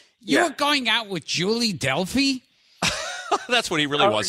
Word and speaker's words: Delpy: Wait, even more important, you're going out with Julie Delpy? That's what he really wants to talk about. Delpy. What'd you call her? Delpy with a P. Delme.